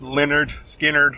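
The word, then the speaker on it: Lynyrd Skynyrd: to Billy Corgan sing all day long uh Leonard skinnard their album It's pronounced Leonard skinnard or self-titled whatever you want to call it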